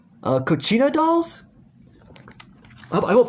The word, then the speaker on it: Kachina: see on her mantel i believe they're called pronunciation right cochina dolls i won't pronounce it correctly so again